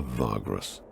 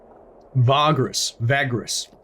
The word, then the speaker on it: Vagrus: Such a leader is called a Vagrus. Vagrus. I'm sticking with my bogan pronunciation.